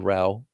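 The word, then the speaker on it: Rauch: writing the intention economy, I was put in touch with a guy named Doug Rau, spelled Rausch, German for smoke, but it's pronounced Rau, who was the president of Trader Joe's for the last 14 years at that time, had recently retired.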